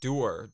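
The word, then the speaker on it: Duir: Druid apparently is Latin is a doer DUI R which is spelled D uh U where's I I is over here and then R is right above it if you spell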